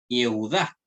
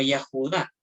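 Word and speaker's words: יְהוּדָה: Por ejemplo, aquí tenemos un nombre, Yehudá. ¿Ya? Yehudá. Ojo, yo quiero dejar en claro esto. Ustedes, por ejemplo, no sé si han escuchado que este nombre lo pronuncian como Yahudá. Eso es incorrecto.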